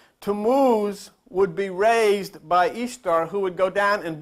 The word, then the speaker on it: Ishtar: Tammuz's spouse's name was Ishtar, pronounced Easter. Ishtar. You pronounce it Ishtar. They pronounced it Easter.